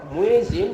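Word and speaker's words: muezzin: Translator অনুবাদক মুয়েজিন মুয়াজ্জিন। Translator অনুবাদক মুয়াজ্জিন মুয়াজ্জিন। ট্রান্সলেটর অনুবাদক মুয়েজিন মুয়াজ্জিন। ট্রান্সলেটর অনুবাদক মুয়াজ্জিন মুয়াজ্জিন। মুয়েজিন, এখানে জেড দুটো আছে, উচ্চারণে একটা আসবে।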